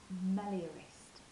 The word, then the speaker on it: meliorist: I am a meliorist." That's how you say it.